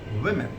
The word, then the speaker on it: women: And the plural version goes women. Whereas I found people pronouncing this woman different other way. So that has to be women. My sister studies in Nasirabad Girls or Nasirabad Women School.